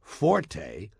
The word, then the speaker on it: forte: point is not pronounced Forte got that it's pronounced Fort the Italian word Forte f o r t used in music notation